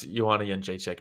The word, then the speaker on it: Jędrzejczyk: Who cares if he can't pronounce Joanna Jędrzejczyk? Nobody could at that time. Nobody could. You look at those vowels and the consonants. It's like a DRZ, and it's pronounced Yun.